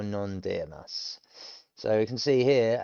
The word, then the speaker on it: います: Wa mizu, and then it shortens, and then ononde imasu. And that's when you see a mass, thank you, or it's the polite thank you. It's you don't pronounce the U's at the end, imas.